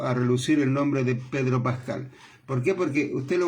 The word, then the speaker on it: Pedro Pascal: Porque ellos pueden decir Peter Pascal. No, Pedro Pascal.